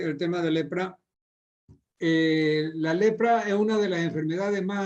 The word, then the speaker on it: leprae: Leprae se escribe. La terminación AE se pronuncia como E.